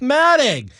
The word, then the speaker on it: Alfombra: We're talking to not Myron Alfombra, pronounced Matting.